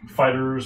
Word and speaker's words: FighterZ: Also, the Dragon Ball Z game is called Dragon Ball FighterZ, but some people are saying it's pronounced Dragon Ball Fighters with a Z.